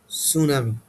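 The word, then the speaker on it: tsunami: Does not know the consequence of সুনামি। এটাকে তোমরা কি উচ্চারণ করো? অবশ্যই এটা হবে সুনামি। টিটা কি থাকবে এখানে? সাইলেন্ট থাকবে।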